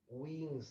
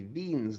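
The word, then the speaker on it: Wien: an equation known as wing's law or i guess if you pronounced it in german it would be veen's law right and it tells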